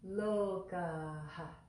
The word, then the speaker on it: Lokāḥ: it is pronounced look there's just a little hint of an aspiration at the end of that word look ha so say that with